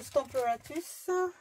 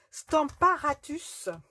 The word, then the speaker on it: Stamparatus: Notre Stamparatus, voilà, je le prononce toujours à l'anglaise, mais en fait, c'est Stamparatus. C'est un nom très romain, en fait.